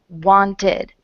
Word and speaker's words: wanted: and want want now when we added the Ed something happened it became needed wanted okay and so this is the first ending that we are going to analyze it's the ID sound um ending okay ID need ID want ID um basically the rule